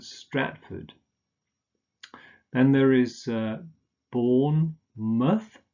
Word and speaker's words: Stratford: afford and german food but this is just pronounced as food yeah so oxford bedford stratford then there is born